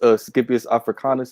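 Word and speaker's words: Scipio Africanus: All right, and also Africa, which goes back to Leos Scipius Africanus. I believe I'm pronouncing that correct.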